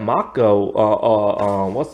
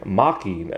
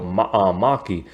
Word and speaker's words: Maki: only Ty knows that Mako, what did I say her name? Maki, not Mako, Maki, that she's an original